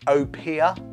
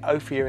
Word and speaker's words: Opihr: European Edition London dry gin now this is pronounced Opia and we have pronounced it ofia in the past we were wrong there you